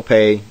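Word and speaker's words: פ: of the regular letters also final pay does not have a dog ish so it is pronounced like f is a special emphatic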